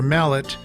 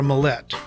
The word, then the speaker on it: Millette: It's not Sandra Mallett, it's Sandra Millette.